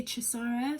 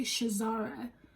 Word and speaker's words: Chisara: the british intonation is they cannot say chisara so they say shazara that's not my name that's not my name